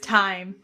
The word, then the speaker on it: thyme: It's pronounced time.